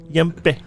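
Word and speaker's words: ympe: Frequently described in folklore and superstition, the word may perhaps derive from the term Yimpe. Y-M-P-E. Yimpe. And that's exactly how you it's said.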